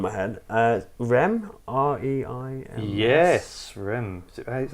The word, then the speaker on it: Reims: Yes, Rem.